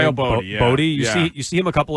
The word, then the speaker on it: Boddy: Boddy.